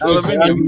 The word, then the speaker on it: aluminium: It's Aluminium.